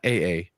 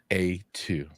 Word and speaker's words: A2: Not double A, not AA, A2. All right, I like that.